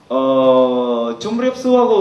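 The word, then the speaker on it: ជំរាបសួរ: 예, 이거는 두 가지 있는데, 원래 좀 중간에 미음 나오는 이유는 이렇게 틀려서 나오는 것이 아니라 그 발음을 잘 되도록 하기 위해서 이렇게 그 미음을 붙이는 겁니다. 줌립수하고 수스의 차이는 반말하고 존댓말 차이가 아닙니다.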